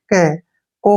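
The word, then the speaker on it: coke: गया क और ओ से ओ की मात्रा और के से क को की तो पढ़ना ही नहीं है कोक क्या पढ़ना है इसको कक कोक मतलब कोयला पत्थर का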